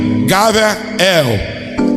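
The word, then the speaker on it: גבריאל: de João Gabriel né no hebraico Gabriel né se pronuncia gavel significa homem de Deus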